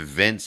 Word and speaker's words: Vince: It rhymes with dense. I thought you were going to say mince, but dense is exactly what you're saying. How good would that be if Vince hands him money when he gets there?